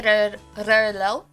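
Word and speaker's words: Rheault: like the uh is spelled r h e a u l t but you say rlo then there's logo l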